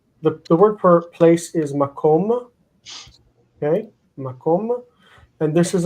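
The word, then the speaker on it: מקום: These are general rules that help you understand and anticipate the placement of the reduction of syllables. So the word for place is makom.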